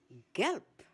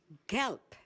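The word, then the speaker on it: gelb: Galp. Galp. The word is spelled G E L B. The ending B in a word in German is pronounced as P.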